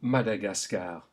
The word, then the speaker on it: Madagascar: In French, this is pronounced A, as in le Madagascar. Say it aloud. Le Madagascar. Note that all of those A's are pronounced A.